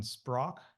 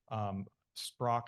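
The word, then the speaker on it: Šprajc: It's not my area of expertise, but there's been a ton of work by Ivan Sprach. It's spelled Sprajc. It's an Eastern European name. I think he's Hungarian. Sprach, Sprajc, something like that.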